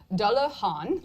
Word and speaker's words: Dullahan: Dullahan, like Han Solo.